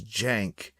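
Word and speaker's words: Cenk: the YouTube chat okay the dude's name is Jank but it's spelled like sink yeah C has a j sound in Turkey think uglier yeah it's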